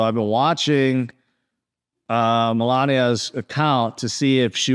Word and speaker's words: Melania: people care because because his wife melenia Melania sorry I keep mispronouncing all of a sudden